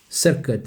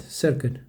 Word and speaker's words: circuit: And I will not use that thing that the cirquit it's not pronounced cirid I know but let let's check together guys